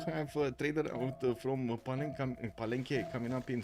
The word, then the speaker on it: Palenque: The last E in Palenque, you mean, I checked, it's in Spanish language, so I need to pronounce it Palenque. Palenque. Oh, that kind of sounds weird.